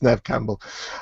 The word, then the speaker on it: Neve Campbell: because I'm not madly better but yes it's Nev Campbell because that's what I thought it was going